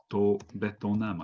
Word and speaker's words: ベトナム: This is it's pronounced Betonam, I think.